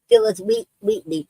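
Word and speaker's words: Phillis Wheatley: Phil Wheatly.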